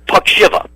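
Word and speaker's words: Puckzyva: y's in the spelling you know but it's pronounced pakshiva p-u-c-k-z-y-v-a something like that now how in the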